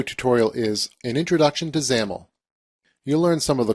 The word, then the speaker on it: XAML: relates to the designer developer serverlight workflow xaml pronounced xaml is a case-sensitive text and tag-based mock-up language